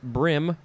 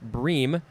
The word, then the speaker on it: bream: Next is, it could be pronounced a couple ways, brim or bream, B-R-E-A-M.